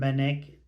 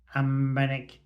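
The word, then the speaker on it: Anbernic: some other handhelds and benic 288 XX that's not how you say it amenic 28xx it's difficult when you only see it written down isn't it yes all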